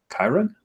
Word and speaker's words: Chiron: much Patrick Chiron right am I saying it correctly Chiron yes like the the Greek Archer Center Sagittarius but you know sort